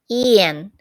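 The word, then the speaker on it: 盐: Salt, yan, sounded like a person's name, Yan, except the intonation goes upward.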